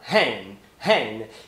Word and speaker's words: hand: Ele não fala hand, hand. Ele fala hen, hen. E aqui é muito engraçado essa parte, porque assim, a pronúncia da palavra mão é com o fonema ash. Hand, hand, que você abre bem a boca.